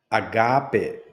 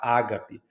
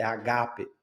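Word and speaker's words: ἀγάπη: Quero destacar aqui que o agape, o acento está, a tônica está no gá e não no primeiro a ágape. É uma confusão que alguns fazem, eu acho, é porque tem um sinal em cima do primeiro alfa e alguns pensam que aquilo ali é um acento. Aquilo não é um acento.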